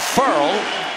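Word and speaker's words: Ferrell: coaches all-time combined cleland furl and he did tell us it's pronounced furl as in referral sent gillaspi backwards here's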